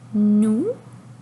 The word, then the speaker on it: nous: Alors, le N fait le son N et le O et OU, lorsqu'ils sont ensemble, dit OU. Donc, et on ne prononce pas le S. Donc, N, OU. Est-ce que tu peux chercher le mot nous dans le texte avec moi?